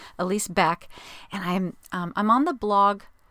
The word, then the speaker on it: Elise Beck: It's pronounced. I stumbled over it terribly last episode. It's Elise Beck.